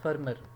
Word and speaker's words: Fermor: یہ FORMER لکھا ہے, فارمر لکھا گیا ہے, ٹائپو ایرر ہے. اٹ از ایرابیلا فرمر. اسپیلنگ جو ہے نا اس کے تھوڑا سا اس میں ایشو ہے, ٹھیک ہے. تو ٹرو اسپیلنگس جو ہے نا وہ میں آپ کو لکھ دیتا ہوں اوپر. ایرابیلا, ٹھیک ہے, ARABELLA ایرابیلا فرمر, FERMOR.